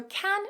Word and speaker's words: can: Notice in the first one I'm using the weak form can, and then in the second one I'm using the strong form, can.